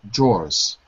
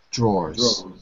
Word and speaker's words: drawers: Drawers. Yeah, but you can say it with one syllable. Drawers. Drawers.